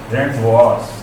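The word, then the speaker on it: rendezvous: अंग्रेजी में केवल एक ही वर्ड है जिसमें जेड जो है वो साइलेंट होता है, ये है रेड वॉस।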